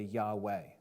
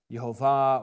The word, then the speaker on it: Yahweh: Scholars they say that the ancient VAV is pronounced like a w sound so instead of saying yah they say Yahweh okay I don't have